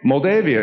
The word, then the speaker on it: Moldavia: Moldavia is formerly part of the Soviet Union.